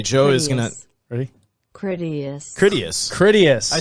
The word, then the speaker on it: Critias: Critias.